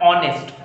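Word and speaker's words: honest: नेक्स्ट जो ऑनेस्ट है, यहाँ पे भी एच जो होता है वो साइलेंट होके हम लोगों को क्या बनाता है, ऑनेस्ट, ओ। ओके, तो ओ इज अ वोवेल, इसीलिए हम लोग एन का इस्तेमाल करते हैं।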